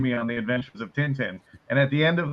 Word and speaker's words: Tintin: It's pronounced Tintin.